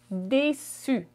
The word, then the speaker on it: déçu: Disappointed in French is je suis déçu. Déçu. It sounds the same for masculine and feminine. Feminine, you simply add an E at the end, but it does not change the pronunciation.